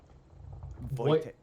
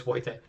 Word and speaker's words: Wojtek: Remember they pronounce W's. It's like is Wojtek or Wojtek. Like, it depends who you speak to and what part of Poland they're from. They pronounce it a wee bit differently. But either way, it's Wojtek or what?